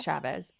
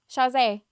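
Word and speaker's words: Chasez: wait, no, not Chavez. Shaz. How do you say his last name? Yeah, Shazay.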